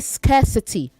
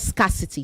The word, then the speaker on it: scarcity: Say scarcity, not scarcity. Scarcity.